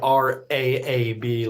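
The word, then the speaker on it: rabe: Broccoli rob is spelled R A B like rab ra.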